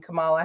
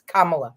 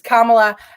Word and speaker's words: Kamala: panel um because of the way she pronounces uh the name Camala Harris or it's Kamala it's Kamala and we all have